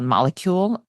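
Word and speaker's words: Molekule: in the house I like a company called molecule it's spelled m o e k u l e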